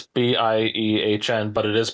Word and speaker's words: Biehn: It's b i e h n, but it is pronounced Biehn.